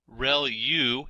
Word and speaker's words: ReLU: ReLU is how that is pronounced, and that's the rectified linear unit.